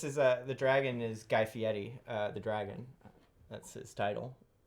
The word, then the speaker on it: Fieri: pronouncing Fieri the correct way. A lot of people say Fieri, and it's just not right.